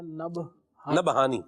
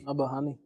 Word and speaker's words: نبہانی: اصل تلفظ کیا ہے؟ نبہانی. ہاں جی نبہانی.